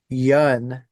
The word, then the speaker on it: Yun: for me is watching people try to PR pronounce some band names you're like what the yeah so Yun is that right that's correct yeah all right